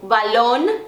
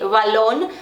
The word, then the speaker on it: balón: Depende a posição da letra na palavra, depende o país, tem país que vai pronunciar mais com som de B, outros com som parece que de V, balón, vocês vão ouvir, parece que o B tem o som de V, mas o que eu